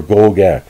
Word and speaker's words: Goegan: spelled it g-o-e-g-a-n or go gang that's how acadians pronounce it if i'm pronouncing it